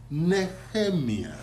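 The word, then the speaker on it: Nehemiah: NE neiah yes right the proper Hebrew pronunciation is neemia neemia and that's our language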